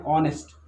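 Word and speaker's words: honest: एन ऑनेस्ट, H silent है, हम एन बोलेंगे।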